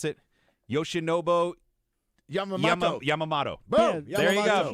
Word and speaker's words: Yoshinobu Yamamoto: Can you pronounce it? Yoshinobu Yamamoto.